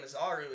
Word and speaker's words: Masaru: It's spelled Masaru, so like I just say Mazaru, but there's almost like a roll on the R that sounds like a Spanish thing. It it's not a Spanish roll.